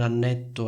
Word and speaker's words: annetto: Quindi confrontiamo le due frasi. Da un lato c'è ho vissuto un annetto a Roma e dall'altro c'è le ho comprato un anello. Sentite la differenza? Annetto, anello.